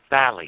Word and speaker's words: phthalate: It's spelled with a P, phthalate.